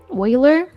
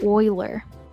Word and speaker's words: Euler: Now that I've been saying Euler for 2 years, it's going to be very, very hard to switch to Euler.